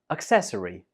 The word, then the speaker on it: accessory: We pronounce this as accessory. Accessory. This word has 4 syllables. Accessory, and the stress is on the second syllable.